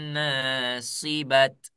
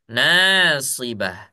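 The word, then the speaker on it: ناصبة: Kalau ta marbuto kita baca sukun, maka dia dibaca ha. Nah, ya. Ini jangan lagi ada yang baca amilatun nasibat tuh ya.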